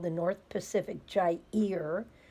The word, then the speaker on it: Gyre: called the North Pacific Gyre that's pronounced Jai ear and it's around Alaska